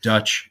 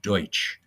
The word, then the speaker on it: Deutsch: You think about it, Dutch is actually the wrong pronunciation of Deutsch.